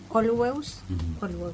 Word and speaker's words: Olweus: Es un término que en los años 70 introdujo Olweus se pronuncia así, ¿no?